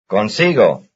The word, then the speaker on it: consigo: And listen to these two very different words which belong to the same stress family, since their stress is on the same syllable, that is, the second to last syllable.